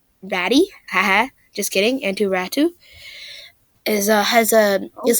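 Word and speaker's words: Räty: The New York Islanders received centerman Bo Horvat in exchange for left winger Anthony Beauvillier, prospect Atu Ratu, is pronounced Ratu, not Rati, and a conditional 2023 first-round pick.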